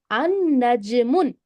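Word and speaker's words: النجم: The lam will be there, but we don't pronounce it. We make it silent.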